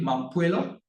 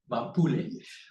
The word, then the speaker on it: Mampule: We've got Raleigh Mampuelo. Do I pronounce that correctly? Mampuele? Mampule.